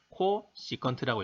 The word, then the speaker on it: 코시컨트: 사인분의 1을 CSC, 코 시컨트라고 읽고 코사인분의 1은 SEC, 시컨트, 탄젠트분의 1은 COT, 코 탄젠트라고 읽습니다.